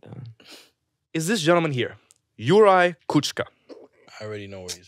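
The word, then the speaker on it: Juraj Kucka: do you say his name his name is yurai kuchka and this is an audio of him and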